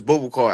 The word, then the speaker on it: Boubacar: Bubble car. Bubble car. But then I see a lot. Yeah. Okay. So, which is it? That just it's Bubble Car. Okay. My real name is Bubble Car.